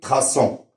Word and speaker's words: traçant: Alors là, on est obligé de mettre une CD pour bien prononcer traçant.